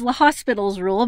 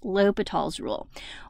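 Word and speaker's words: L'Hôpital's rule: the green light for l'hopital's rule i know it looks like it reads l'hospital's rule but we pronounce it l'hopital's rule once I discovered that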